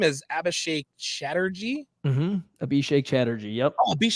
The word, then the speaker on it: Abhishek: do you so your name is Abhishek Chatterjee Abhishek Chatterjee yep Chatterjee oh okay I totally I totally butchered that well I think I'm just gonna